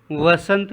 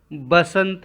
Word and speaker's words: वसंत: छात्रों हम यहां पर खड़ी बोली हिंदी में वसंत कहते हैं अवधि में वसंत को बसंत कहा जाता है अवधि भाषा में वह का उच्चारण वी के रूप में होता है छात्रों वसंत रितु